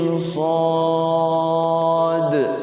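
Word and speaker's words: ص: atau Alif Lam Mim Shad nih alif lam mim Shad ada qalqalahnya shadnya di akhir Apa karena Shad itu tulisannya SH Alif Dal Shad ya kan Makanya ada ada surah nanti ketemu surah Shad Shad ada qalqalahnya enam harakat dengan qalqala itu fawatiuswar itu bacanya harus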